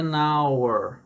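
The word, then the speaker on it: hour: som qual o som que a gente tá pronunciando aqui da letra o o É nauer né junto com o é nauer e não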